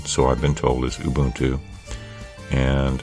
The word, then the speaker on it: Ubuntu: and install now I've been taught that Ubuntu is the correct pronunciation but you know what teaches zone I